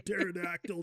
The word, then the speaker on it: pterodactyl: I go to the bathroom like a pterodactyl, dude. The P is silent, but no, man.